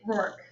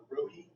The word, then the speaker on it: Rohi: Okay, so now we're gonna move to Rourke, right? Did I say your last name correctly? No, that's No, right. say it. Tell me how you say it. It's Rohi.